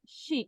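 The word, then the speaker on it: 是: Se escribe, fíjate, esto en bopomofo suena sh, sh. Es como, yo le veo que es el sonido puro. Sh. ¿Mm? Y acá ujú, tenemos un tono cuarto. Y este es el pinyin, shi.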